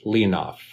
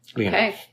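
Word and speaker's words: leanbh: Irish meaning child and of course I had to look up how it's pronounced the it's pronounced leonoff leof so yeah child so are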